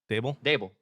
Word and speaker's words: Daboll: Brian Daboll. Is it Daboll or Dable? Yeah, Dable.